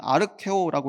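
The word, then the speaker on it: ἀρκέω: 특히 여기서 족하다라고 번역된이 헬라어 헬라어 단어는 아르케오라고 읽는 그런 단어인데이 원래 뜻은 충분하다 가득하다라는 뜻을 가지고 있습니다.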